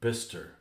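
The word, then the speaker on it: Bicester: of Roman origin here we have to Chester pronounced Toaster What or Biser bister that's just that's just silly that is just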